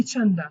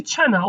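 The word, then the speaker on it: چەندە: You just simply say bai chana or bai chanda. But as I said, we do not pronounce D.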